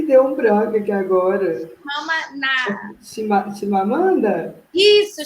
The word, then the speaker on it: Chimamanda: Chimamanda? Isso, Chimamanda.